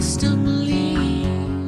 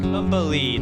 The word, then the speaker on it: Stumbleine: So I'll be a stumbling. Stumbleine.